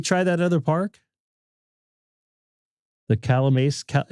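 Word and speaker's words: Calimesa: The Calamasa? Is this how you say Calamasa? Cali Mesa? Not Cali Mesa. Cali Mesa. It's like California, I believe, but Mesa.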